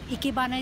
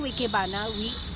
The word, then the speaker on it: Ikebana: means to live and Hana which is pronounced as bana is the flowers so Ikebana is living Flats so when we do Ikebana we you know it